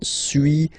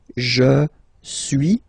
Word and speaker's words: suis: So first one, suis, as you've been noticing, you don't pronounce the final S, okay.